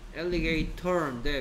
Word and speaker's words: alligator: Alligator인데 미국 사람들이 T 발음을 세게 안 해. 그냥 흘려버려. Alligator.